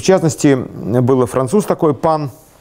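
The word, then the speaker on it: Pin: И, в частности, был француз такой, Пан, пишется P-I-N, ну, P-I-N.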